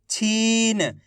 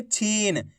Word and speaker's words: छीन: अगर आप छीन पढ़ दोगे तो इस तरीके से छोटी ई की मात्रा का उच्चारण हो जाएगा, जबकि अपन बड़ी ई की मात्रा पढ़ रहे हैं तो खींच के पढ़ेंगे छीन।